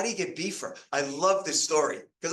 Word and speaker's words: Beefer: known of Vermont as beefer right so you would spell it like b f ER beefer um but his actual